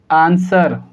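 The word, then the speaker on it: answer: केस number first हमारा ये कहता है, ऑलवेज रिमेंबर, याद रखना आप, एस के बाद W आएगा, W साइलेंट होगा। तो हम इसको क्या पढ़ेंगे, आंसर, और हम इसको क्या पढ़ेंगे, सॉड।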